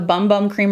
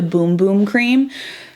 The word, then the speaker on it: Bum Bum Cream: me over that the bum bum cream or the boom boom cream i've actually used to call it the bum bum cream but it's supposed to be pronounced the boom boom cream anyways so this is